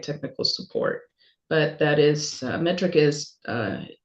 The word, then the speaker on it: METRC: Okay, so metric, and that's spelled METRC, metric without the I.